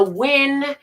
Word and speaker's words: Wynn: I was sitting at a machine at the Wynn Casino. Wynn, hello, it's spelled W-Y-N-N, but who cares how it's spelled?